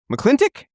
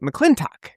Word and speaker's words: McLintock: Because in the movie, it's very ambiguous how you even say his name. There are characters who quite literally say the name two different ways in two different scenes. They'll say McClintic and then they'll say Mcccleintoch.